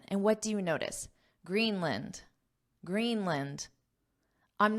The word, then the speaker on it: Greenland: not saying Greenland Greenland the word here is land but in English we have the concept of syllable stress so in this case green is the stress syllable so this vowel becomes unstress Lind in in Greenland Greenland this is the phonetic spelling where you can see that a is our schah sound which is just an unstress end end and then I wrote